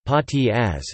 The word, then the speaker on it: Spaghettieis: Spaghettieis (German pronunciation: Pâtis as) is a German ice cream dish made to look like a plate of spaghetti.